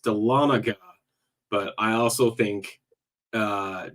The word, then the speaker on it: Dahlonega: have captured it with my ears that is pronounced Dahlonega but I also think uh dalanega but we'll we'll see uh we'll see how